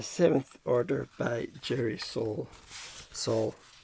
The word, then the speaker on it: Sohl: Sohl. S-O-H-L. Sohl. No, how you pronounce it.